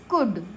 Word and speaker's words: could: अच्छा COULD कुड, क्योंकि यू के बाद में एल है, क्लियर, मतलब एल कहाँ साइलेंट होता है, AOU के बाद में अगर एल आता है तो एल साइलेंट हो जाता है।